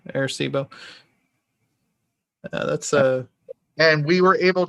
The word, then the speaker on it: Arecibo: I think that's how it's pronounced, Arecibo. Yeah, Arecibo.